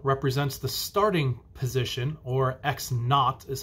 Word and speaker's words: x naught: with a zero represents the starting position or x naught is how it's pronounced or you might see it with a